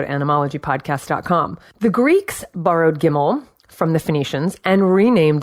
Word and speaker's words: gimel: The third letter of the Phoenician alphabet was gimel, for the sound of the hard G as in gate, gimel.